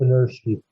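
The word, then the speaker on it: Benirschke: Okay, I can't even pronounce his last name. I think it's Bennerski. Rolf Bennerski, yes. You're right.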